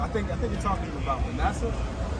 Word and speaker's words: Manasseh: How you pronounce that? Well, I think you're talking about Manasseh. Manasseh.